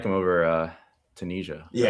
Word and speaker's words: Tunisia: Uh I always pronounce this country wrong. Tunia. Tanzania. How do you say it? Tunisia. I thought it was Tunisia. You're right. Tunisia.